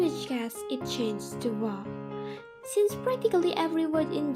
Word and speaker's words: は: The fa sound shifted into more of a ha sound, and later it was standardized that wa in words was pronounced ha, and as a particle was pronounced wa.